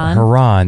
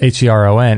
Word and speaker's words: Heron: so this kid was uh Jason uh har Haron they called him and it was h e r o n and so every time during roll call they